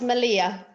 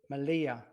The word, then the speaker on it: Melilla: it correctly well i believe it's it's it's pronounced malia malia two elves the pronouncers are why so malia